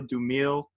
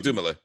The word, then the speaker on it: Dumile: the show of Daniel Dumoulin. I looked it up, by the way. I wasn't sure if it's Daniel Dumile. No, it's Dumoulin. He says Dumoulin.